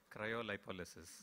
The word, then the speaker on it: Cryolipolysis: Cryolipolysis. Gadbad kaya, ye bhi gadbad hai. There is actually a far cleaner pronunciation which I'm going to have the gentleman tell you. Cryolipolysis.